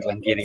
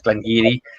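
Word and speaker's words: Glen Garioch: I worked for Glengarry. That's way up in Aberdeenshire. That's the one that looks like it should be Glengarry, but it's Glengarry.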